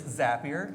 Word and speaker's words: Zapier: How do you pronounce the company name? I've gone all the way from Zapier. Zapier for the Canadians, Zapier in here or French folks. It is Zapier.